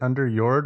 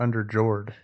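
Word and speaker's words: Underjord: get in on it is it under yord or under Jord under yord yeah for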